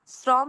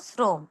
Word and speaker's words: শ্রম: শ্রম না বলে ও এর মত উচ্চারণ করব শ্রম।